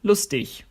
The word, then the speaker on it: lustig: In some areas of the German-speaking world, you'll hear a G pronounced as a ch, when it's on the end of a word. For example, lustig, funny.